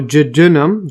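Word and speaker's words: jejunum: the uh Jim or I'll see that again pronunciation here J oh Jenum so they have the Jenum over here that's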